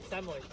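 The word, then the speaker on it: Samoyed: Samoid. Samoid. Samoid. They're all Samoid. How do you spell it? S A M O Y E D. Samoid. Samoid.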